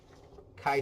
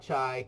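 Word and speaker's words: chi: how to read our Kai Square table so it's Kai not chai Kai rhymes with guy I Square table so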